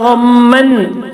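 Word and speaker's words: غمًّا: ഗമ്മൻ എന്ന നൂനിനെ മാറ്റിയിട്ട് മീമാക്കുക.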